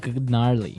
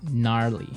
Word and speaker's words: gnarly: so an interesting word it's spelled g n a r l e y okay so but you don't say gnarly no you say gnarly yep and a related